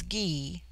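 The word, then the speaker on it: Gy: the word Ana pronounced broadly on corresponds with our plural men on the singular with man the word for woman is ghee pronounced hard as in guy it forms itself into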